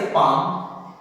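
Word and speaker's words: palm: हमें क्या करना है, एल को साइलेंट कर देना है। एल को क्या करना है, साइलेंट कर देना है। याद रखना है जिस तरह से वर्ड है काम, उसी तरह से पाम, काम मींस क्या होता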